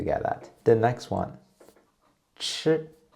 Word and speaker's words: chi: Chi. Chi and zhi. Actually, they're pronounced in the same way, but ch are aspirated. And you can find this sound in many English words like cherry, cheap, ch.